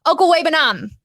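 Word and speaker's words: Okwuegbunam: next point of Albert uncle webenom that is that is how you say it for for those who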